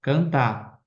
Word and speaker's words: cantar: A palavra, ó, cantar. Cantar, oxítono, né? E não tem acentuação.